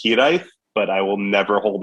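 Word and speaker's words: hiraeth: here ate it's spell it's a welsh word it's spelled h-i-r-a-e-t-h so it is definitely going to be a difficult one for people to pronounce it's actually pronounced hedith but i will never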